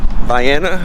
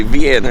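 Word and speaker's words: Vienna: just made it in Viana I keep wan to say vien cuz where I'm from in Missouri we have a town close by it's vien but this is VI um there's trail head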